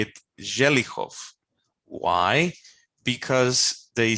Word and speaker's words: Zelechow: So they pronounce it Zelichov instead.